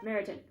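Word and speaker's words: Meryton: most invigorating yes we often walk to maritan okay so I was pronouncing it right meritan oh I wasn't expecting that adoption I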